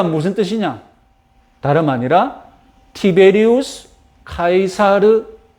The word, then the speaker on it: 카이사르: 영어식 발음도 우리에게 익숙하죠 영어식 발음은 c죠 영어식 발음은 c조고 공식적인 표준어는 카이사르고 그리고 우리 성경에서는 가이사라고 번역이 됩니다 아시다시피 율리우스